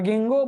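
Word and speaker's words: Ginkgo: और फिर ये स्पेशल है, साइकस में कैसे, कोनिफर में कैसे, और गिंगो बायलोबा में कैसे। यहाँ पे के इज साइलेंट, याद रखो।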